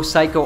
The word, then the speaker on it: psycho: Pronunciation note, the P in psycho is completely silent.